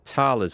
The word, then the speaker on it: thalers: So we get a subsidy of 10 thalers. I think it's pronounced thalers, not thalers, which is basically coinage or gold, currency, if you like, to you and me.